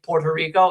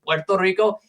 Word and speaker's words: Puerto Rico: The reason why you say why why Americans say Puerto Rico instead of the proper pronunciation Puerto Rico is because they actually changed the spelling to be with two O's because they just were too lazy to pronounce it and then it